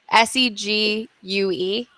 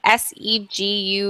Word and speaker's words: segue: Segs. How do you say it? Am I saying it wrong? Segue. I read more than I talk. Segue? Is it just seg? Segue.